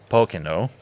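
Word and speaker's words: Pokeno: all the time, but Pocono, and because I said it wrong on social media. No, and they yes. And I've been corrected, so I need to elongate my O.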